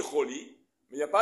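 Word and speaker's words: חולי: Mais dans la Torah, il n'y a pas marqué le vav. Il est marqué, il se dit choli, mais il n'y a pas avec le vav.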